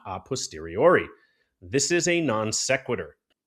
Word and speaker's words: a posteriori: Jim Bob, the pronunciation is a posteriori. Sound it out.